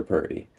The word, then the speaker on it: Purdy: my name's Perty. Perty? Yep, that's right. Spell it. So PRDY, like Brock Purdy for the 49ers.